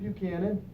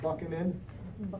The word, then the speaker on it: Buchanan: 1856 James Buchanan and we pronounce it Buchanan not buck him in because I get that a lot do you mean James